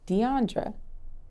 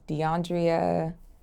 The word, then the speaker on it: Deiondra: to pronounce your name the correct way to pronounce my name is Deandra do people mispronounce this yes I'm called DeAndrea dandria DeAndre it is Deandra do people misspell it